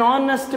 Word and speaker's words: honest: hour right okay an honest man again H is silent here so we have an